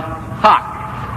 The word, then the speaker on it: hough: Time is called hock. H-O-U-G-H. Spelled H-O-U-G-H.